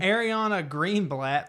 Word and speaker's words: Ariana Greenblatt: Ariana Greenblatt.